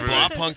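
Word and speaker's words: Blaupunkt: Blow punk was I think they say blow punk.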